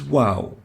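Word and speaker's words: واو: both are called wow the name is wow as in wow so the name is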